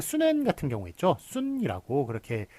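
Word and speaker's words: 쑨원: 예, 그러니까 손문 같은 경우는 이제 한국식 발음이고 순엔 같은 경우에는 이제 중국식 발음인데 어떻게 쓰는 게 맞을까요? 예, 요거 순엔이라고 쓰는 게 맞죠.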